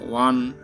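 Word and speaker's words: one: তো ওটা ভাওয়েল আছে, কিন্তু ভাওয়েলটা ভাওয়েলের মতন উচ্চারণ হচ্ছে ওয়াও, এর মতন উচ্চারণ হচ্ছে ওয়ান ওয়া।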